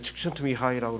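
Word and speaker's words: Csikszentmihalyi: 참 발음하기 힘들어요. 헝가리 사람인데 칙션트미하이라고 그러는데요.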